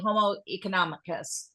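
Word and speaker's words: homo economicus: Arnold we gotta have somebody say it properly homoeconomicus there we go economic that's it there we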